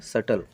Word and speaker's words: subtle: SUBTLE, टी के पहले कौन आया है यहाँ पे? बी। तो आप बी को नहीं बोलोगे, सीधा सीधा क्या बोलोगे? सटल।